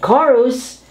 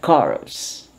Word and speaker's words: chorus: some kind of chemical used for cleansing and chorus this is a group of singers producing a song what they seeing is a chorus emanating from a group okay so let's just